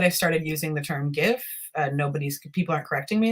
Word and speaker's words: GIF: yeah now that i've started using the term gif nobody's people aren't correcting me as much so i figure that seems to have won i always tell people if you want to call it jif then make gifs you know you know call